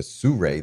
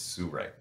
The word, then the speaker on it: Sirui: You'll hear it pronounced all different ways, but I believe it's Sirui.